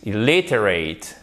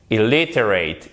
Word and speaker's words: illiterate: Et, literate, illiterate. Ok, donc là, vous avez votre accent tonique sur la deuxième syllabe. Literate, illiterate, illiterate.